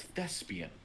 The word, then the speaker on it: thespian: and her word was thespian but i guess whoever was like saying the words pronounced it with more of a z so it was like thespian which is also a way to pronounce it and she's like okay